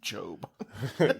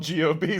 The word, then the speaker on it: Gob: It's Job.